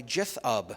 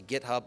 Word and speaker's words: GitHub: Git Annex is written by a guy named Joey Hess, and Git LFS is released by GitHub, which I'm told that's how it's pronounced. Most people say GitHub, most people are wrong.